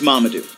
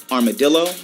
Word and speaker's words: Mamadou: My name is Mamadou, not Armadillo, not Marmaduke, not Mumu, not Mumam, Mamadou.